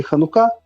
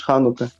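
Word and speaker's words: חנוכה: а Ізраїль назвать ханука тому що наєвриті ставиться наголос на останній склад тому наєвриті ханука наїдеш ханука от і все зрозумів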